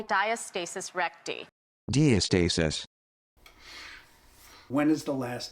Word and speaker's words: diastasis recti: I think it's important to know how to pronounce the condition. Diastasis Recti. Diastasis Recti. Diastasis Recti.